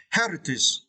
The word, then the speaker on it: heritage: meaning of Vietnamese and you need to stretch the first slipper okay hi Heritage okay Heritage is mean